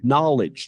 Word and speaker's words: knowledge: We say no, knowledge, knife, Slipknot, the band. The K is silent.